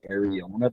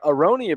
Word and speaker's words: aronia: you guys always doing Ariana berries is that how you pronounce that and what the hell is areola buried I'm in on that crop IA yeah I would uh aronia berries yeah so we probably need